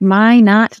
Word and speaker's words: Minot: So Amy Rogers from Minot, North Dakota. Did I say it right, Amy? That is correct. Minot, North Dakota.